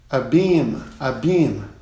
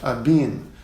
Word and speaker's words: abeam: Próxima palavra, abeam, né? O A ele é aberto, abeam, não é a-beam, como eu já escutei falando.